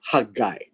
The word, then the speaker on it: Haggai: hand he came to zerubbabel now the word hagai by the way is pronounced hand guy right ha guy and the second name here is zerubbabel now